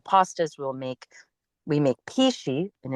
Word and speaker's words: pici: We make pici, and it's spelled p i c i, which is very traditional Tuscan um pasta recipe.